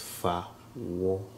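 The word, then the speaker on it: Fawohodie: So this one is usually pronounced really quick, so it's pronounced fahudie, but if you break it down, it's fahudie.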